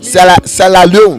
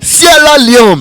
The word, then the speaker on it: Sierra Leone: I want to pronounce the word well. Sierra Leone. Sierra Leone. No. Sierra Leone. No. Sierra Leone. Yes.